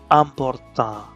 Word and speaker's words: important: In French, IN and IM are pronounced as a. So important would be important, important.